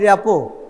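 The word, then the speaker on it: rapport: this r&t usually okay we usually do not pronounce we call it repo so first you have to build a repo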